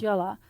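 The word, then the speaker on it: jóla: out oh it's okay so it's j o l a Yola it's pronounced Yola b o k a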